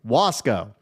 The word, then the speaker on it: Wasco: And hey, he pronounced it correctly. Wasow.